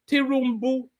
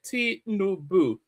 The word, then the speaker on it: Tinubu: Tirumbu. How can they not be able? It's only T. How many syllables are there? Tinubu. So those are 3 syllables.